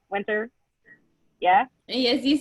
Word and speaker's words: Wynter: Is that right, Wynter?